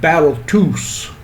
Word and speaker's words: Balthus: question and she said you're balthus and he answered back no i'm battletoos that's how he pronounced his name he grew up in